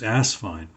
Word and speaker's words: Asvine: all the pen reviewers probably 75% of them say asvine as opposed to asvine and you'll find below a link to my video talking about how to pronounce the company name from the horse's mouth which is asvine and there's sort of